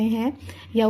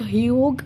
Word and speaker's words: Hugh: real name was Hector Hugh Monroe. So it is not Hug, ठीक है, और नॉट ह्यूज और नॉट ह्यूग। ठीक है, GH is silent hair, so you will be calling it Hector ह्यू Monroe और इसका short form